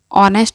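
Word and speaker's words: honest: ठीक है वैसे यह एच ओ एन एस टी इसमें ऑनेस्ट में क्या होता है एच साइलेंट होता है इसलिए हम इसे ऑनेस्ट पढ़ते इसे होंडा स्टनर पढ़कर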